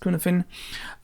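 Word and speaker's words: Cynefin: It's often linked to the Cunefin, written Cunefin, but it's pronounced Cunefin, matrix of complexity.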